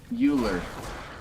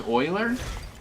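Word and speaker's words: Euler: me so anyway uh uler it's Oiler I always pronounce it uler it does you just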